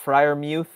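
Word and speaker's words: Freiermuth: it's pronounced Pat Fryermuth. Yeah, okay.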